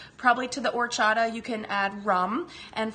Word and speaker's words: horchata: It's spelled with an H, so it looks like horchata, but the H is silent, and it's a yummy,